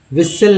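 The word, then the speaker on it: whistle: विस्टल, विसल नहीं पढ़ते हैं, हालांकि विसल में तो कन्फ्यूजन नहीं है लेकिन लिस्टन में कन्फ्यूज लोग हो जाते हैं।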